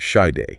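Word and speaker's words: Sade: Oh, and this one's inspired by that iconic song from Side and it's pronounced shade.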